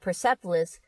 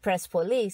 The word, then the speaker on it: Persepolis: It's kind of the same with, you guys call it Persepolis. We call it Prespolis.